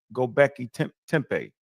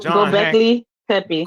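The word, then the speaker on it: Göbekli Tepe: lot of pseudos go on that, like Graham Gobekli Tempe. Am I saying it right? Gobekli Tempe, right? People like John Gobekli Tepe.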